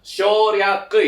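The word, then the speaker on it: 省略: Cara bacanya itu adalah shoryaku ya.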